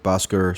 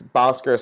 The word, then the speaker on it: Bhaskar: I mean it's not even though it's Bhaskar Sankara but even the way that I pronounce it is because my my mom is turned at it and can't pronounce the proper Hindi version of my name which is like a like aspirated H but anyway Bhaskar Sankara